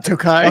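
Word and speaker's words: Türkiye: How do you pronounce that? Turkey. Tai like tookai.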